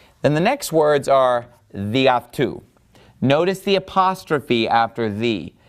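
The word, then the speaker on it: δι' αὐτοῦ: So the reason that it has that apostrophe and why it has lost an alpha is that it gets run together with the following word. So it's just pronounced διαυτού, meaning by him.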